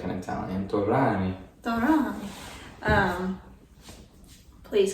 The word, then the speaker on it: Torani: And these syrups are Turani. I don't know how to say it. Turani. You I gotta think it's say it supposed like to be an Italian. You gotta say it like an Italian. Torani.